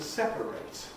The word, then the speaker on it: separate: Now the suffix spelled ate is regularly strong in verbs. The verbs in ate have 8. But nouns or adjectives usually weaken it to us or it for some people. So the adjective is separately. The verb is to separate. The verb has a strong A, separate.